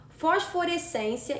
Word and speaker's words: fosforescência: Letra C, fosforescência e japonês. O vocábulo fosforescência é uma paroxítona, porque possui a penúltima sílaba tônica.